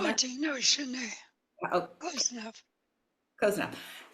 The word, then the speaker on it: Haudenosaunee: Am I pronouncing that? Haudenosaunee.